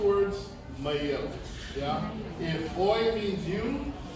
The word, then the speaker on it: mai au: I'm adding in an invisible letter. What letter are you guys hearing? It's not a Hawaiian letter. Y. A Y. Yeah? Anyone want to take a guess as to why I'm doing that? There's no Okina there.